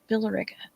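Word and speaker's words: Villa Rica: place called Villa Georgia I know I'm not pronouncing that's how we pronounce it here in the South billera and uh and there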